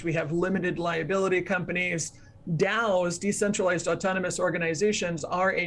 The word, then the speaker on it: DAO: by decentralized autonomous organizations otherwise known as daos dao pronounced dao and those daos are